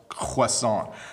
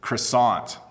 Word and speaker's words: croissant: And how do you pronounce croissant? So in English, people mispronounce it and they say croissant.